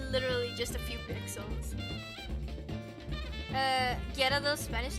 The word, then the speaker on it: Gyarados: We just emphasize the ga, like the ja, ja, Gyarados.